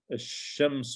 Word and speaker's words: الشمس: Okay, the sun, الشمس, and remember, so shams is obviously the sun letter, الشمس.